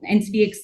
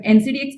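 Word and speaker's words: NCDEX: we would say, but NCDX ka price to aisa hai. NCDX for them has become a generic name, they don't even pronounce the E there, but NCDX ka price aisa hai.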